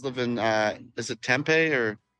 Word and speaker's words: Tempe: in uh is it Tempe or Tempe Tempe Tempe they're that's a local is call it Tempe if if you're not you might say temp Tempe my bad if anyone